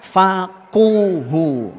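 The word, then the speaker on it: فَقُهُوا: Syaratnya 1, idza faquhu. Nah, di situ faqih itu, tapi qafnya di dhammah.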